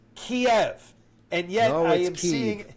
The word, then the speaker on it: Kiev: we have all decided as a society are pronounced a certain way. For example, it's Vladimir Putin. Okay. It's Kiev. And yet I am seeing I'm already going to argue with you to say it's Keef and I'm hearing like Mark Levin is pronouncing